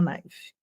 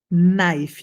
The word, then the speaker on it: knife: Você quer um garfo a knife? Knife, não pronuncia o K, tá? Knife.